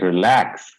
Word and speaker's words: relax: can you see yes so in verb we have to stress on second syllable can you pronounce all